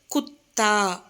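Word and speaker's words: कुत्ता: First word குத்தா, கு இத்தா, குத்தா, நாய், டாக். ஸோ இந்த வேர்டில் நடுவில் பார்த்தீங்கன்னா த அப்படின்ற எழுத்தை பாதி தான் எழுதியிருக்காங்க. ஸோ அதனால் இத்து அப்படின்னு ரீட் பண்ணணும், ஓகேவா. நெக்ஸ்ட் ஒன் பத்தா, ப இத்தா, பத்தா, லீஃப், இலை.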